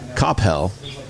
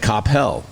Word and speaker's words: Capel: and I thought this was crazy Capel police Capel which I you know that's how you pronounce it Capel Capel like Cel yeah Capel yeah so Capel